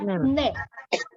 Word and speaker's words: 네: itu yang bacanya ne atau bacanya de ya? Bacanya ne. Ne. Oke. Kedengarannya kan de ya? Itu karena lidah orang Korea ketika huruf N itu dia nempel di langit-langit D. Nempel di gigi langit gigi atas ya.